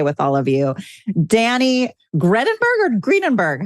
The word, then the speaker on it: Gredinberg: Danny Gredinberg or Gredinberg? How do I pronounce it? Gredinberg.